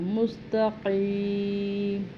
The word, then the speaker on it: مستقیم: لفظ کو نکالنا ہے۔ مستقیم، قاف کو بھی حلق سے اور موٹا پر پڑھنا ہے۔ پھر اسی طرح صراط